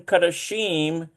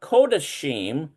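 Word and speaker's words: קדשים: The first in kadashim and kadashe is pronounced O as in low. Okay. Oh, look at this. So this is a kametz hatuf. So it's O. So it's a kodashim and kodashe.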